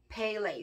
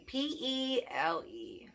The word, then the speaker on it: Pele: pretty sure that's how you say it um pele p-e-l-e she has like a a hawaiian vibe i'm